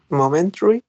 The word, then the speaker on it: momentary: have momentary momentary momentary we have four syllables but some speakers may use only three they may say momentary exactly so um combining